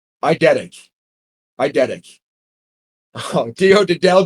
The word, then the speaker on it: eidetic: Did I just say I eat a dick out loud? I wait. Hold on. I eat a dick. How else could you say that word? Pronounced eidetic.